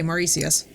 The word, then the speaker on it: Mauritius: Oh, okay, Mauritius. Got you. Thank you for the pronunciation help.